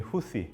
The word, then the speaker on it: 후티: 반정부 이슬람 운동을 이끌었던 사람의 지도자 이름이 후시. 그 성에서 나온 거고요. 그래서 이 후시를 기리고 따른다 해서 이 사람들을 후시 반군이라고 그러는데 이제 이게 로컬 발음으로 후티가 되니까 후티 반군 이렇게 하는 겁니다.